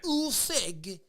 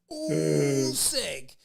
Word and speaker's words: Usyk: Alexander Usyk. Usyk. Look at how I say Usyk. Alexander Usyk. You gotta say it from your gut.